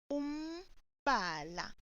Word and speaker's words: umbala: Note that the sound looks like it can be mba. However, it is pronounced umbala.